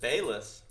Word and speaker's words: Balazs: then when I uh easily butchered when it's just Bess there we go let's